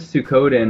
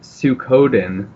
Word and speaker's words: Suikoden: Growing up, my friends and I pronounced it Suikoden because we didn't know anything about Japanese language, and I found out like 20 years later that makes absolutely no sense phonetically. So it's Suikoden, I'm quite sure, but I don't know how you'd anglicize that.